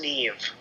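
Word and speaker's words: Niamh: link so it's um it's spelled n-i-a-m-h and according to the interwebs that's pronounced Neve okay so it's Neve Murphy and it's her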